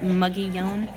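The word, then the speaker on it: Mogollon: but ending in New Mexico the people there pronounced it muggy young muggy Alan McGee on and what it is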